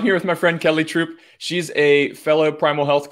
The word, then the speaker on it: Troup: kelly troop i've never asked you do you pronounce it troop yeah yeah okay awesome so i'm here with my friend kelly troupe she's a fellow primal health coach um if